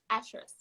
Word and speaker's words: Ashrus: on just hold on say my name again actress wow that's amazing you know um i don't